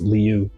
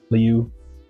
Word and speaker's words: Liu: I think it's Liu, like Leo or something. Liu.